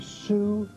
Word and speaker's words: Sukkot: The new pronunciation for all the young children learning it is Sukkot. Sukkot. Right, that's how they say it in Israel today.